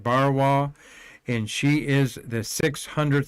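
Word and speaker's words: Barnawi: And the lady there is Rihanna Bariwa. Barn, it was how it's spelled, but the N is silent. Bariwa, and she is the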